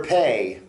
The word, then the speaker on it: פ: is uh a mouth okay uh the letter pay is spelled pay Olive um if you're using it